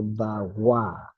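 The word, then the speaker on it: bhava: The Tibetans would pronounce it Teno Patishta Drido Me Bawa. So notice that the VA versus the WA at the end of words, the Tibetans prefer to pronounce the V as a W at the end of words.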